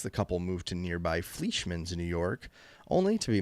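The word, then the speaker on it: Fleischmanns: Yeah, it's Fleischmann's. Fleischmann's. Fleischmann's? Oh, so easy to pronounce.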